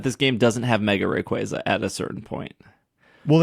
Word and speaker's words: Rayquaza: But yeah, he meant to say Rayquaza. We say it properly here on the show. I was going to say, please, Austin, it's Rayquaza.